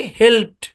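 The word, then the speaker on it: helped: তাহলে এটা কি? পি আছে ভয়েসলেস, তারপরে আছে ইডি, তাহলে ইটা সাইলেন্ট থাকবে আর ডিটা উচ্চারণ হবে। আর ডিটা উচ্চারণ হবে টি এর সাউন্ড দেবে, ডিটা ডি উচ্চারণ হবে না, টি এর সাউন্ড দেবে। তাহলে উচ্চারণ কি? হেল্পড, হেল্পড এরকম।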